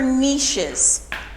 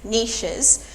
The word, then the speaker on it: niche: for small groups okay and then caves or niches so that's how you pronounce that niche and I see a yes Nisha's so caves are Nisha's niches are small spaces